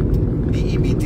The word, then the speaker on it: debt: The word is not debt. DEBT is pronounced as debt.